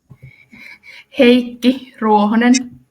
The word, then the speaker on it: Heikki Ruohonen: Annie, can you please show me how to pronounce his name? Heikki Ruohonen.